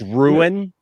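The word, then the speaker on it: Rian: was it took me it's pronounced ruin ruin right and i i actually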